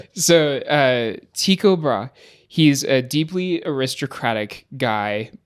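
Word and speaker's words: Tycho Brahe: I've been pronouncing it Tiko Brahi for my entire career in astronomy or my entire studies in astronomy.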